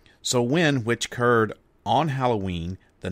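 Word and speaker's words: Samhain: when its I am hae in but it's pronounced so when so when which occurred on Halloween the night before All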